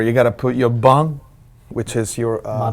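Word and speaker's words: bún: Remember, you got to put your bun, which is your... My bong? Bun. B-U. B-U, that is the way they pronounce rice noodles.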